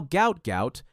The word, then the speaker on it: Gout Gout: His family name was originally transliterated as Gua or Guat, but now Gout Gout, pronounced to rhyme with pout, is the name the world knows, and it's becoming one that track and field will never forget.